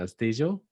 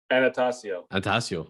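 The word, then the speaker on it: Attanasio: How do you pronounce his last name? Anastasio? Anastasio.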